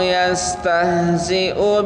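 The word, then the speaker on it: يستهزئ: Allahu yastahzi'u bihim. Perhatikan di sana u-nya nggak boleh dipanjangin. Kadang-kadang banyak di antara kita yang bacanya u-nya selalu dipanjangkan. Nah, di sini u-nya pendek, hamzahnya pendek.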